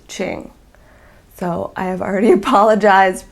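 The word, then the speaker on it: Qing: So the word is, and it is the Indie Dyer's name, it's Q-I-N-G, no letter Q, I-N-G. And it's pronounced Ching.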